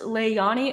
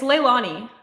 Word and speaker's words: Leilani: that about me um is it pronounced leani it's Leilani it's Leilani I I get that